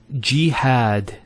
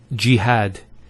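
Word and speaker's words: جهاد: So we have here G, that's the first syllable, and then had, jihad. So you notice here we have a fatha on the ha followed by the alif, and that gives the elongation of the A sound.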